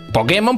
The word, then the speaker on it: Pokémon: no saben d de Los japoneses le dicen Pokémon con acento en la e Búscalo Búscalo si